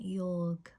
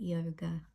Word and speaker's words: yoga: from the west cuz instead of calling it Yorg we call it yoga instead of calling it au we call it are you What would it look like to hire yourself?